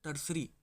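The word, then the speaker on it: tertiary: इसकी जो स्पेलिंग है वो थोड़ी अलग है पर इसको जब पढ़ते हैं तो टर्सरी पढ़ते हैं।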